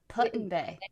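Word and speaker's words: Put-in-Bay: also in ohio called putting bay which is that's spelled put like p-u-t like put dash in dashbay putin bay that's hilarious yeah it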